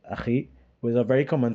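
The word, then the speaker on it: أخي: they said ka, like akhi, which is a very common thing. We doesn't say akhi in Trinidad often. We say aki. Yeah, aki, and that is wrong, right?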